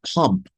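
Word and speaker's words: Pompe: with elevated lipids pump let's pronounce this as pump okay has a deficiency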